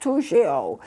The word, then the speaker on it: Toujeo: It's pronounced Toujeo.